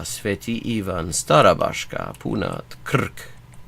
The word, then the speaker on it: Krk: Melnice, Vrzici, Crni Kraj, Pijavica, Bunica, Bashka, Sveti Ivan, Stara Bashka, Punat, Krk. A vowelless name. The R is a syllable.